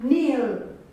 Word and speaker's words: kneel: We have another word like kneel.